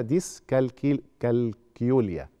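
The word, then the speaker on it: dyscalculia: صعوبات الحساب ودي اسمها ديسكل كالكيوليا هي هتتنطق كده خلاص مش زي الكالكوليتور يعني تمام دي يعني فقدان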